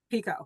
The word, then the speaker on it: Picoult: And we know how to say her name now. Pico, Confidently.